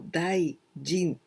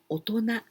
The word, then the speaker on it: 大人: But we don't say お人 or 大人. Not like this. With these two, we pronounce 大人.